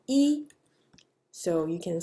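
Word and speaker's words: 一: as Bo how so when e stands by itself like you're counting 1 2 3 4 5 the pronunciation is first tone e so you can say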